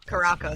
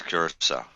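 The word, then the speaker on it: Curaçao: Caraco sounds better. Just saying. Listen, when I grew up, that's what we called it. So I didn't know. Yeah. But on the pronunciation, they'd say it's curacao.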